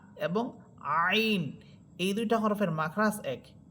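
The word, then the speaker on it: عين: আইন এটা নরম হরফ। এটাকে নরমাল ভাবে নরম করে পড়বেন।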